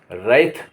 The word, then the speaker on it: wrath: अब जहाँ W silent होगा वहाँ क्या होगा? WRATH, रैथ।